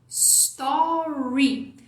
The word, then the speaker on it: story: Story aqui do Instagram você vai colocar um som de i no final você vai falar Story pode prolongar pode exagerar para você sentir que esse som tá ali então fala aí comigo Story Ah o s vai